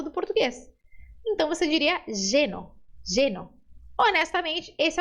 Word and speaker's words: lleno: Você pode pronunciar ele como um som de I. Então, essa palavra ficaria lleno, lleno.